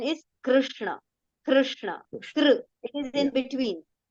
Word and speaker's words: Krishna: okay they use right so actually the Sanskrit pronunciation is in between so region wise the difference you will find Krishna Krishna right but actual pronunciation is Krishna Krishna it is in